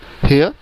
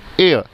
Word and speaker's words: heir: हेयर? नो, the correct pronunciation is एयर.